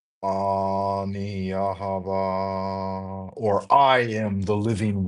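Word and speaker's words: יהוה: Like I am what I am is ani, ani, and then this in Hebrew should be pronounced Yahava.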